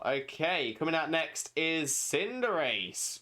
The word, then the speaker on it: Cinderace: names of Pokemon, and someone was trying to argue that Cinderace isn't pronounced Cinderace. It's pronounced Cinderace, as in Cinder and Liberace because of Libero, not realizing that it's Cinder Ace because Cinder as fire and Ace like a sports ace.